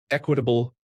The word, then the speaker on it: equitable: My speech teacher gave me an A on it, but let me know it was pronounced with a short E.